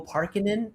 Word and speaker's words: Parkin: Uh, today I'm joined by Sampo Parkin. Did I say your last name correctly? That is perfect pronunciation.